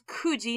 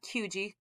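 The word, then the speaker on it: 九時: doesn't change kufun kuji this is kuji not kyuji kuji kufundes kuji kufundes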